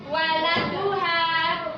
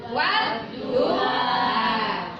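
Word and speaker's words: والضحى: Jadi di kata-kata wadduha ini ada huruf apa ini? Alif lam. Ada alif lam. Jadi membacanya tidak waladuha. Jadi membacanya wadduha.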